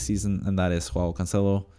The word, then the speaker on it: Cancelo: and that is while cancelo Consuelo sorry that's how you say it in Portuguese uh Consuelo again I